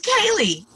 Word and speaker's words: Kailey: can today i sent kaylee an email and said we're recording your podcast right now how do you pronounce your name oh good and she said it's kaylee so so i thought